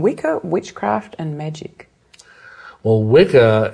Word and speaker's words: Wicca: Well, Wicca, it's actually it's pronounced witcher, really.